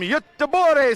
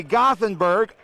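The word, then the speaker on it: Göteborg: barco in the challenger the way from uttabore sweden or as americans say gothenburg our west coast champion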